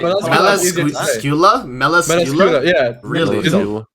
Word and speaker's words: Melascula: What Melascula? Yeah. So apparently the right way is Meliscula.